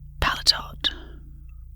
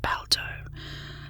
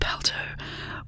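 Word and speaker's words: paletot: on the second syllable patot or may no it's not pronounced that it's pronounced palto a noun a loose Overcoat uh the word is pronounced palto with the stress on the first syllable Balia a noun a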